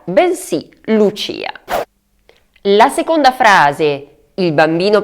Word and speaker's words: Lucia: Vi faccio anche notare che il nome femminile si pronuncia Lucia perché la I è tonica, pertanto non Lucia, bensì Lucia.